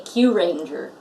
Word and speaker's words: Kyuranger: yeah yeah yeah again didn't realize I've been pronouncing it any differently than you have you say cue ranger yes trying to get in that I was